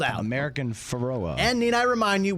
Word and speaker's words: American Pharoah: drop the famous drop of chris brockman uh pronouncing the the name of american pharaoh do you have that uh american pharoah okay so we're just sparing you chris brockman's vast knowledge of horse racing american ferrara it does the o and the a were